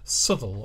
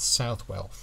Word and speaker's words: Southwell: at a town called sule also pronounced as it is spelled southwell British people do like